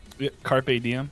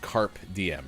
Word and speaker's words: carpe diem: it wrong carpe diem carpe diem i mean you got it right that time okay oh yeah i said carp dm earlier right carp diem yeah the fish first talking about the fish